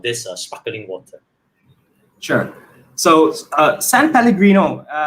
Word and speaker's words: San Pellegrino: This is I keep having a hard time pronouncing its name. San Pellegrino, am I right? You are right.